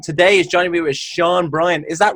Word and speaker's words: Sean Brien: So my name's Sean Brien. You pronounced it right.